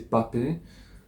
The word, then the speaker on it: Mbappé: Franchement, Mbappé Mbappé, je sais, je sais faut prononcer Mbappé.